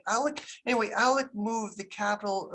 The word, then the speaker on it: Oleg: a guy named uh alec in english it's spelled o-l-e-g in america's words francis oleg russian pronunciation is something like alec anyway alec moved the